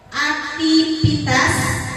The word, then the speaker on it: aktivitas: Aktivitas, bukan aktivitas. Jadi penggantian huruf V V dan F ya.